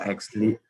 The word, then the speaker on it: AXL: It is an artificial intelligence robot we are introduced to Excel pronounced as Exley, which is helpful for an introductory computer simulation marketing site source.